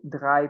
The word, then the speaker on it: drei: Esse EI, gente, tem som de I em alemão. Então, sempre que tiver uma palavra com EI, a gente vai falar I em vez de EI.